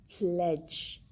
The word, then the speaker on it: pledge: In the word cage, here we have D before the letter G. So we do not pronounce the letter D. The word is cage, pledge, grudge. In all these words, letter D is not pronounced. It is not heard.